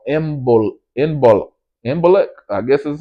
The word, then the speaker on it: Imbolc: But, you know, so the spring starts with that one called Imbolc, I guess is how you say it, and